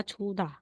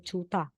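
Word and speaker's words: 좋다: So, sasabihin, instead na sabihin mong chuda, magiging chuta.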